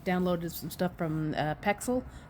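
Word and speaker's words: Pexels: some stuff from uh pxel paxel it's p ex I actually say p ax so I say it wrong uh but the first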